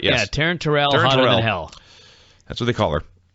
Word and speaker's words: Taryn Terrell: For Taryn Terrell, because it rhymes with hotter than hell. That's right, yes. Yeah, Taryn Terrell, hotter than hell.